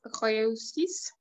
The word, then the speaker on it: réussissent: Je souhaite qu'ils réussissent leurs examens. Exact. Très bien. Parfait. Excellent. Très bien. Qu'ils réussissent. Parfait. Réussissent. En effet, parce que ENT à la fin, on ne prononce jamais.